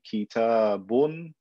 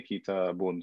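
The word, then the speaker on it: كِتَابٌ: So if I say kitabun, I don't put kaf. ta, alif, ba, noon. La. I just pronounce it as a noon. I say kitabun.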